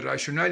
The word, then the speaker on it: rational: But when the word is written without E, it is rational. It is rational. We extend the first A after the R, rational.